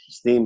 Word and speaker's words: Steem: Steam is spelled STEEM.